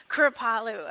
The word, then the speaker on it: Kripalu: I'm glad you pronounced it right. Say it again. What's the energy Kripalu. center? Kripalu.